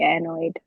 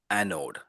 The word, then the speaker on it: anode: Right. Anode. Don't worry. Every time you say it wrong, I'm going to correct everybody. Anode. That's okay. This is what we're in class. This is what we do. Anode. No, I anode. That's exactly right.